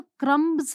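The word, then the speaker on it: crumbs: यहाँ पर B silent होता है। ठीक है, ये साइलेंट रहेगा। जब बोलेंगे तो क्रम्स नहीं बोलेंगे, हम बोलेंगे क्रम्स। Okay, so there are क्रम्स all over the counter.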